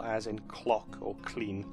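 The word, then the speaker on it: Llŷn: or grog which is made by putting the tongue to the top of your mouth and making a sound that's a little bit like an L but also a little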